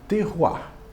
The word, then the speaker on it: terroir: determinado alimento na verdade a palavra é pronunciada terroir o que que é